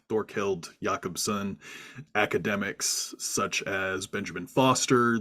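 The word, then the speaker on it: Jacobsen: of dor hild yakobson who I had previously mispronounced numerous times as Jacobson and I was recently educated on the pronunciation of the last name but uh academics like Thor held yakobson academics such as Benjamin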